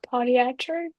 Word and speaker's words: podiatric: I think it's podiatric.